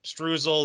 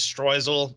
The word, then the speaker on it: streusel: So Americans say streusel. The German pronunciation is streusel. It's one of those things like I consider either one right.